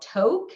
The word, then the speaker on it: Tok: closest town is called toke it's spelled t-o-k but it's pronounced toke and it's a very